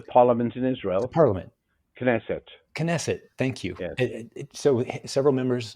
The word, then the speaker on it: Knesset: oh the the parliament in Israel Parliament knesset knesset thank you so several members of they were